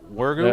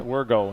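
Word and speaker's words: Wirgau: And you said that's his pronounced Wergo? Yeah, Wergo, yep.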